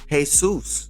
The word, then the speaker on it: Jesús: Then you see Mexicans name their kids Jesus, which is Jesus when you spell it out in Spanish.